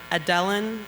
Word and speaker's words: Adéllyn: Adéllyn, did I pronounce that right? Adéllyn, yes.